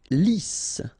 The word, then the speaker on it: lisse: Lisse. Double S here, so it's really a strong S. Lisse. Okay, don't insist on the final E. Lisse.